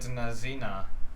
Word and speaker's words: Nazino: oh oh so it is a russian uh island but he said nazina is the o pronounced as an a may 18 1933 on